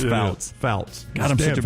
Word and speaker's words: Fouts: Montana Faust is wrong. It's Fouts.